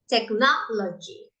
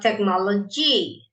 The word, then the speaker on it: technology: Look at this one, technology, not technology or technology. Technology, no, technology.